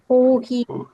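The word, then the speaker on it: コーヒー: So you must pronounce it in Japanese style only. So it is going to be kohi.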